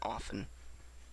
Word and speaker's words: often: often yeah mild thingy don't pronounce the T and often when a potato will